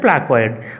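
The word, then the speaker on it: placoid: তার মানে এখানে উচ্চারণটা হবে প্লাকোয়েড আঁশ।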